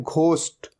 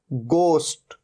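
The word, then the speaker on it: ghost: और कई लोग इसे गलत भी प्रोनाउंस करते हैं, इसे कहते हैं घोस्ट। ये घोस्ट नहीं होता, हमेशा ध्यान रखना है, ये क्या है, गोस्ट, गोस्ट।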